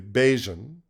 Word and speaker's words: Bajun: So these days, what I've been trying to do to make it easy for people is I say Bajun rhymes with Cajun, right?